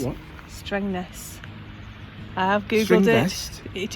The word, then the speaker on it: Strängnäs: Strängnäs. I have googled Strängnäs? it. It is how it is Strängnäs.